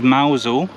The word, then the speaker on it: Mousehole: as well so this is mousel which is actually spelt mouse hole but yeah pronounced mausol this is